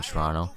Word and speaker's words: Toronto: If they pronounce the T they ain’t from here fr.